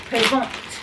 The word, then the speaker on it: présente: The TE at the end makes it feminine, and when a woman says it, you're supposed to pronounce the T, so it's présent, So